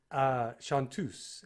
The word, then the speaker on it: Chanteuse: And Chanteuse actually is the way it's supposed to be pronounced.